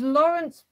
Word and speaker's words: Laurence: So it was Laurence Pasquier. It's spelled L-A-U-R-E-N-C-E, and then the surname is P-A-S-Q-U-I-E-R.